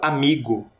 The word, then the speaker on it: amigo: Vocês perceberam que a palavra amigo tem uma sílaba que é mais forte? Você consegue identificar? Amigo é o mi.